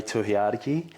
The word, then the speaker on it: Tohiariki: I am Tiadaki, but you can call me.